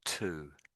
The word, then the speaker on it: two: They all sound exactly the same.